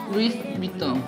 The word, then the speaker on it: Louis Vuitton: ¿Cómo se pronuncia? Louis Vuitton.